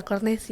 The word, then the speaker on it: Cornecia: Iya, Cornesia. Tulisannya soalnya Cornecia. Iya. Cornesia.